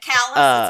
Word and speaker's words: Callas: Callas, it's pronounced Callas. More or less.